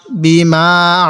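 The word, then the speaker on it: بِمَا: বাজের বি, মিম আলিফ জবর মা, এক আলিফ টান দিব জবরের বামে খালি আলিফ থাকার কারণে।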